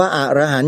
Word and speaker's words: อรหันต์: พระ อรหันต์ คำ ว่า อรหันต์ โยม อย่า ไป อ่าน ผิด นะ ถ้า อ่าน ผิด มัน จะ เพี้ยน เลย ความ หมาย เพี้ยน ไป เลย ที่ ถูก ต้อง ออก เสียง ว่า อรหันต์ มี ใคร ไป ออก